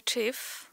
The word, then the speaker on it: thief: You are a thief. Tak? Dobrze wymawiam. Uwaga, thief. Thief. Oto TH w angielskim to jest taki dźwięk, którego my nie mamy w polskim.